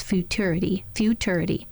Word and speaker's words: futurity: So you can do it TUR, TYUR, or CHUR in the middle of that word. Yep. Do you know what I'm talking about? I'm with you. Yep. 3 ways to pronounce that. But the dictionary says when you play the verbal audible part of it, it's futurity.